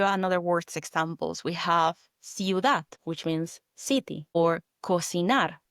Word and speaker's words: ciudad: Okay, so in summary, with the letter C, before the letters E and I, like you did with ciudad, spelled C-I-U-D-A-D, ciudad, it sounds like an S, but before the letters